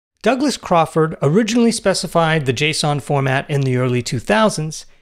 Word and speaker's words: JSON: named and promoted the Json format says it's pronounced like the name Jason but somehow Json seems